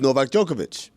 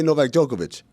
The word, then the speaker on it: Djokovic: Number 2 is Novak Djokovic. Even though it ends with a C, we say Novak Djokovic.